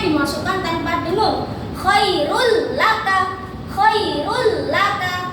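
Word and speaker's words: خَيْرٌ لَكَ: Khairul laka, bukan khairun laka atau khairul laka. Itu salah.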